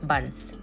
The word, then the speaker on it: Burns Road: Do I go with the Angrai pronunciation burns or the local DIC pronunciation buns?